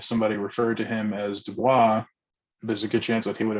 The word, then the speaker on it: Du Bois: A lot of folks will insist that it's Du Bois, because that's how a lot of other famous people have pronounced it. But Du Bois insisted that his name was pronounced Du Bois, not Du Bois.